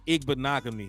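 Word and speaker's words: Igbinoghene: good I know it's ignogany it's ignogany yeah I know the last Sports uh rhymes with mahogany so it's igbanogamy huh you already know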